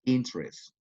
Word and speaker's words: interest: Interest, only 2 syllables. Interest.